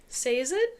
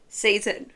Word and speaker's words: Sazed: Sazed? Sazed. Yes. I say Sazed. Oh! Horrible, isn't it? Yeah, well... Sazed is okay. I don't like what you say, I can imagine no, I said my Sazed.